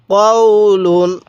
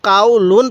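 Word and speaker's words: قَوْلُن: লাম দুই পেশ লুন কওলুন কওলুন কেউ কাউলুন পড়বেন না স্মরণ রাখবেন এটাও তাহলে কফ ওয়াও জবর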